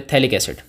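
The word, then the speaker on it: phthalic: P silent है, थैलिक acid अपन इसको बोलते हैं, ठीक है।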